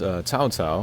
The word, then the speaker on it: Cao Cao: Alright, so here is Cao Cao, I think that's how you say it in the Chinese. In the Japanese, it's Soul Soul.